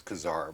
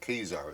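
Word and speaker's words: Ka-Zar: I used to always pronounce it as Khazar, but it's Khazar is the official pronunciation of that.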